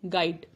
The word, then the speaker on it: guide: गाइड, गेस्ट, गार्ड एंड गेस।